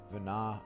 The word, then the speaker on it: Venat: think it's i don't i think the t is silent like it was in 12. vana um can use the